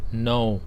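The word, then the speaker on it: know: ได้ ดี กว่า ผม อาโน ตัว นี้ จะ ไม่ ออก เสียง เคนะ ครับ No ออก คล้าย ๆ ตัว โน ที่ แปล ว่า ไม่ แต่ No คำ นี้ แปล ว่า รู้ เข้า ใจ นะ ครับ ม.ค ก็ แห้ว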